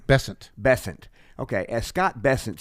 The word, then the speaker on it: Bessent: happening is as Scott uh how do you pronounce his last name bessent bessent okay as Scott bessent said my good buddy Scott Besson who as you know now that we're you